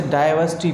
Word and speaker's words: diversity: इसे डाइवर्सिटी पढ़ेंगे, यहाँ पे आर साइलेंट है।